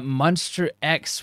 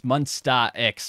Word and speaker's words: Monsta X: damn that was uh monster x with or my i say monster as they get pronouncing it probably wrong it's monstar x which god damn rush